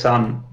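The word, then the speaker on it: Sunn O))): How do you pronounce that name anyway? Sun O parenthesis. I don't know, it's just Sun. Yeah, Sun. As far as I know. You got that sort of droning Sun style guitar, and it is... I think it's pronounced with the sound of a bong rip.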